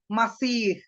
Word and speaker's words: മസീഹ്: കാണുന്ന അഭിപ്രായം ഇതാണ് ഏത് മശിഹാ അല്ലെങ്കിൽ മിശിഹാ എന്ന ഹീബ്രു വാക്കിന്റെ അറബി ശൈലി അനുസരിച്ചുള്ള ഉച്ചാരണമാണ് മസീഹ് കണ്ടോ അപ്പൊ മശിഹായുടെ അറബി ശൈലിയാണ് മസീഹ് അപ്പൊ ആ വാക്കിന്റെ സാക്ഷാൽ